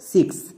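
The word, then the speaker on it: six: কখনো হয় নিয়ম হচ্ছে শব্দের শেষে যদি এক্স থাকে শব্দের একদম শেষে যদি এক্স দেখতে পাই তখন আমরা এক্স এর জন্য এই কো সাউন্ড ইউজ করব যেমন এক্সাম্পল দেখো সিক্স এই ওয়ার্ডের একদম শেষে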